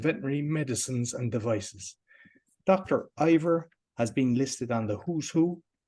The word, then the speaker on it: Iyer: It's spelled as Iyer, and it's pronounced as Iyer, and just like higher, like an I and a year.